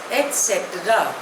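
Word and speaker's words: et cetera: नेक्स्ट word is अ very common word एटस spelling is ईटी सी ई टी ई आर ए short form is ईटीसी pronunciation is एटस इट इज अ Latin word means the रेस्ट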